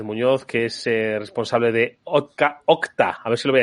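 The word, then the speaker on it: Okta: a Juan Pérez Muñoz que es responsable de octa a ver si lo voy a decir bien octa eh Juan qué tal Muy buenas tardes muy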